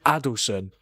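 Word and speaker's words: Adilson: Adelson.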